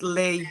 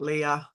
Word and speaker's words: Leigh: thank you yeah um it's Lee not Leah it's Lee I like it's le le le yeah Le just just it's okay loads of people call me Leah for some reason because you don't spell it l e e you spell Le l e e you spell it l e i g h that's Leo right no